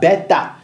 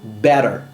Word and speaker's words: better: En anglais, quand un t se trouve entre deux sons vocaliques, il ne se prononce pas comme un t, il se prononce comme un d rapide.